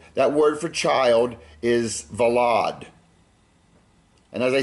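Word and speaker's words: ולד: word for child is vad and as I said some people might pronounce it wallad with a w the next one is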